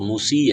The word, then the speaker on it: موسیٰ: اے کے ساتھ لکھا جاتا ہے، لفظ تو موسی ہے نا، موسی، لیکن اس کے اوپر ایک